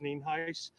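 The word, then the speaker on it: Nienhuis: Sheriff spelled n-i-e-n-h-u-i-s and it's pronounced name heis uh we're here out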